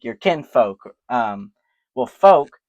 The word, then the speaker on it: Volk: Um well folk came from bulk with a V. And we just took that V, then we put a F in there, made folk, folk, folk. It rhymes. It sounds the same.